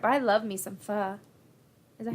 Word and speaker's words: pho: I gotta be in the mood for it, but I love me some pho. Is that how you say it? yeah, Me some pho. yeah. That's how it's pronounced.